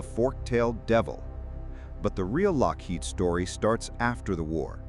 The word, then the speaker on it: Loughead: This time, he spelled it phonetically, Lockheed.